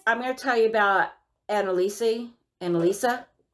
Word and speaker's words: Anneliese: gonna tell you about Anna Lisa and Lisa Michelle what okay so this is how it's spelled okay a NN e li es eso Annelise but she pronounces it annalisa she's a fancy [